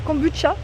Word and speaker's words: kombucha: Donc là ils mettent truffe noire, thé noir, kombucha ça se prononce kombucha.